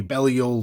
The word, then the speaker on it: Belial: bringing in that very Belial look. And I always feel weird saying Belial, but that's how they pronounce it on the show, so I'm just gonna stick with that.